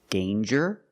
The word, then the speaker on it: danger: Example, danger and anger. So with danger, we hear the J sound. Danger. There's no nasal sound. There's no It's a regular N.